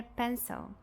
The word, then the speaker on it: pencil: E depois a sílaba átona, com o schwa sound. So, pencil, pencil.